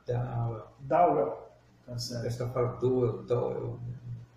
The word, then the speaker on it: Dowel: É Dowell. Antes Dowell? É, é com A. Dowell. Dowell. Tá certo. Essa palavra Dowell, Dowell. Donald. É, se escreve Dowell. É, se escreve D-O-W-E-L, mas pronuncia Dowell.